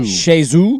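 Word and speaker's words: Chez Xue: CHEZ is Shay. Shay. I think it's Shezu. XUE. Zoo. Yeah. So Shezu.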